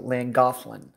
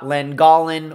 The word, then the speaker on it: Llangollen: But that is how you pronounce it, even though there's no TH in that word, that's how you pronounce it. So Llangollen, something like that. It is certainly not Llangollen or Llangollen or anything like that.